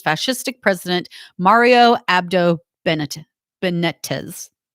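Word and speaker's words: Benítez: president mario abdo bennett benetes benitez benitez i think is how you say it teachers were the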